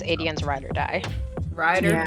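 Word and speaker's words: Aedion: hope I do like that um her cousin Aden or I don't know how you say it no you're right Aden um with him I love that he like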